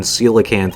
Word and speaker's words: coelacanth: just you know based on how the spelling is i mean i guess it's not too incorrect but i am fairly certain coelacanth is the right terminology or the right pronunciation rather who indeed woo hoo